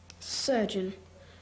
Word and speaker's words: surgeon: Surgeon. Serge. Eon. S U R G E O N.